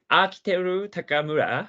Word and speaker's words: Akiteru Takamura: As a pronunciation, Akiteru Takamura is very similar to Japanese pronunciation.